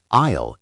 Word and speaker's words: I'll: Isle is one syllable. Like I plus a light L. In fast speech, I'll have often sounds like olive or alof.